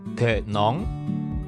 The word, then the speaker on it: thịt nướng: 这种烤肉的越南语应该发音叫做 thịt nướng，就是把烤好的肉和米粉还有蔬菜用米纸卷起来吃。